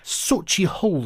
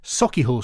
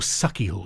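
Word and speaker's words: Sauchiehall: week I talked about SOI Hall Street in Glasgow thank you to Jilly Shephard and Craig Murray who've both been in touch to point out it's pronounced saky Hall Street or saky Hall Street apologies glaswegians I'm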